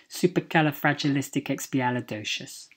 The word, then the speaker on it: supercalifragilisticexpialidocious: Poppins and it's pronounced supercalifragilisticexpialidocious supercalifragilisticexpialidocious supercalifragilisticexpialidocious and it's just fun really and the stress is on the final two syllables dosha s' okay so